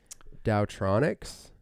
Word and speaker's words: TaoTronics: to say it's like doubt Ronix I would pronounce the T yeah and be taotronics but isn't Taoism spelled